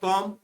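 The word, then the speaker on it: calm: Third है कॉम, कॉम में B silent रहता है।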